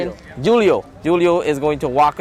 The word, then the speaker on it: Julio: Julio.